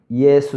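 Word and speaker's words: Ἰησοῦς: 하나님 까지 기록하고 있습니다 예수님의 헬라어 발음은 이 애수 쓰이고 이 단어는 히브리어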